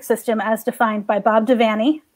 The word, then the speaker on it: Devaney: as defined by bob devaney rhymes with fanny say it wrong you get an f who was my professor